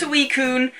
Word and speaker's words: Suicune: Apparently it's Suicune. I just never pronounced it until I found out how to.